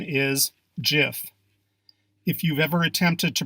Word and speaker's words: GIF: hear over and over again are you ready gif proper pronunciation is gif if you've ever attempted to pronounce this word